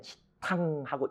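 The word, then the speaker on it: cittaṃ: 그래서 가장 가까운 게 이응입니다. 그래서 그냥 편하게 우리가 할 땐 치탕하고 이응으로 발음을 해버려요.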